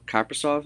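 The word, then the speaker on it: Kaprizov: I wasn't necessarily taking underrated players, but just who I'd like to see, and they're also first-time All-Stars, is Karil Kappersoft. Is that how you pronounce his name, correct?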